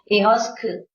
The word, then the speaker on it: Ihosku: About the animal on Ihosku. Ihosku means original universe, nah? I-H-O of Vietnamese with the hat, and then S, Ihos, and then Ku, K and the U of Vietnamese. Ihosku, original universe.